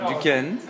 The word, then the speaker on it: Duquesne: And that's what Duquesne. How do you spell that?